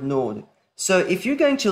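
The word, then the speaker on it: נאד: That aleph is silent in the word nod.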